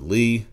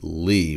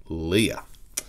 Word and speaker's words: LEA: for this but uh this is indeed pronounced Lee even though it looks like Leah so what are we